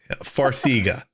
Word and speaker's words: Farxiga: How do you pronounce that? Farxiga. I've seen Is their that what? commercials. Farxiga. Okay, Farxiga.